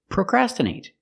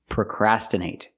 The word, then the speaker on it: procrastinate: The stress is on the second syllable, procrastinate.